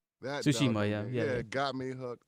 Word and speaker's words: Tsushima: Tsushima, yeah, it got me hooked.